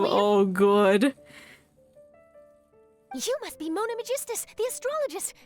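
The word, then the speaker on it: Mona Megistus: do her homework well it's not that hard to pronounce It's Mona Magistas ah he must be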